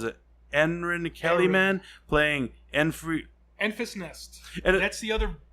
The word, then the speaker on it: Enfys: Enfys Nest. And That's the other supposed villain in the movie. Now it's spelled a different way, but it is pronounced Infant's Nest.